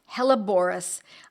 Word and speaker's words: Helleborus: Hella, Hella, Borus, Borus. One word, though. Seems like it would be two, but I'm pronouncing it in that way so that you have a better way of remembering it.